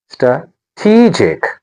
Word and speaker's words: strategic: participation Our next word is strategic stra tegic Not a strategic. The stress is on te stra tegic strategic Listen again. strategic And then scientific scientific The stress is on te.